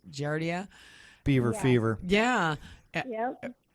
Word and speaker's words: giardia: her story about how she had, was it pronounced Giardia? Beaver fever. Yeah. Yep. That's what we call it. Beaver fever. Giardia.